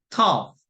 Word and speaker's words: tough: 모음의 강세가 있고 GH가 F 발음 납니다. 그래서 enough. 그 다음에 tough.